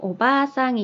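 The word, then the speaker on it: おばあさん: 여기 예를 들면은 오바상이 있고 오바상이 있어요. 글자가 비슷한 것 같고 발음도 비슷한 것 같은데 여기 오바 뒤에 아라는 글자가 붙어서 마치 여기 모음이 2개가 똑같은 게 연달아 오는 것처럼 길게 발음이 될 거거든요.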